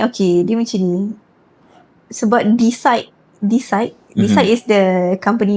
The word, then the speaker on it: Theecide: So we cut off separuh dia jadi decide lah macam tu. So it's pronounced as decide. Decide as in decision decide.